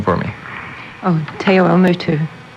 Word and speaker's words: Te Awamutu: She is from, pronounce the name for me. Oh, Te Awamutu. Te Awamutu.